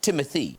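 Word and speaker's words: Timothée: I meant to say Timothy. It's pronounced Timothy.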